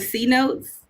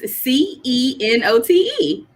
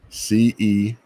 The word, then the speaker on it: cenote: I think visiting like one of the C notes there. The C notes. Yeah. What the hell is the C notes? I thought is that how you pronounce it? I might be wrong. It's CENOTE. CENOTE.